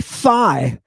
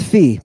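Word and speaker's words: φ: loves fee right now if you say fi I'm gonna say fa f I smell the gas of an Englishman is that how it goes no because that's your nursery rhymes this is fee people Fe Fe Fe it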